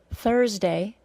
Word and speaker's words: Thursday: again Thursday through three Thursday because it has a schwa plus our sound has an hour sound that lasts longer than three and through let's review the four